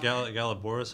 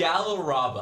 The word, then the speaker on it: Galaraba: Is You that didn't where focus on Galabora's hut is? Is where that lady was? Yes. What? Galabora, the elf. It's not. I said it wrong, didn't I? Galabora? It's Galaraba. Galaraba.